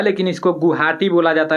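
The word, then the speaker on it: Guwahati: ना गुआ हाटी लिखा जाता है लेकिन इसको गुवाहाटी बोला जाता है वह साइलेंट रहता है तो गुवाहाटी किस नदी के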